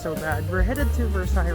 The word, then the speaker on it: Versailles: So right now we're behind the Chateau de Versailles. That's how you pronounce it.